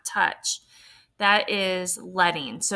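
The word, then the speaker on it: leading: rather than points letting and that's how we pronounce it is letting is the amount of space between the lines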